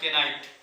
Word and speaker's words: Knight: और एक और साइंटिस्ट थे जिनका नाम था केनाइट, KNIGHT। इसको नाइट ही पढ़ेंगे लेकिन स्पेलिंग जो है वो किससे लिखाएगा, के से लिखाएगा।